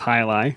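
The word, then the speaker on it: Jai Alai: really enjoyed that one it looks like J but it's pronounced highi yeah and that was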